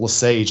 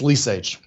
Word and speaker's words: Lesage: are people from there everybody else pronounces it lesage like some fancy french it ain't it's lease age and i remember growing